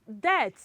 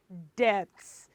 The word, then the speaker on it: debt: It is B. It is what? B. So it is debt, not debts. Not debt. I'm sure you are thinking, so what of DEATH? That is death. It is not debt. So this one, DEBT, is debt.